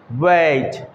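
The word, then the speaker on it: weight: যদি ই আই এর পরে জি এইচ থাকে, এরকম অনেকগুলো শব্দ আছে যেখানে জি এইচ টোটালি সাইলেন্ট ভূমিকা পালন করে, কোনো রকমের এখানে তারা উচ্চারণ হয় না, কেমন আমরা জি ফর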